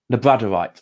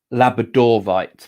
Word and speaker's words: labradorite: do you say it i say it wrong i say lab labradorite i say le brad le bradorite but it is actually labradorite because that's where it was first found was in labrador so beautiful i think